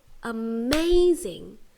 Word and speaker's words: amazing: amazing one two three and where's the stress is it amazing amazing or amazing you're right the stress is on the second syllable here the one that